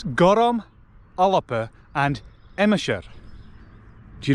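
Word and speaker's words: gorm: It's gorom, an-diugh and Epenthesis. Do you notice what I did there? Each one is pronounced with an extra syllable than is written.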